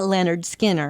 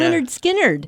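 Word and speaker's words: Lynyrd Skynyrd: Well, and then there were so many people who mispronounced the name of that band when they Right. first came out and called it Leonard Skinner. And Yeah. we're like, what? It's Yeah. Leonard Skinnerd.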